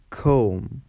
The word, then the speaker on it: comb: B is silent before T and after M. For example, debt, doubt, saddle, dumb, tomb, comb.